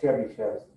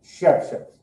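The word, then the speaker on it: Chebyshev: We don't pronounce a Y. That's according to a Russian teacher I had in FIU. He corrected all us. He said, it's not Chebychev, it's Chebychev. It's Russian.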